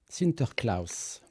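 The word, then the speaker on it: Sinterklaas: une petite idée Fred comment se prononce Saint-Nicolas en néerlandais euh non sintercl sinter Claus est-ce que ça te fait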